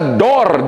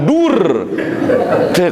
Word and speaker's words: door: Tapi dalam penulisan pintu, door, harus dibaca door, jangan dur.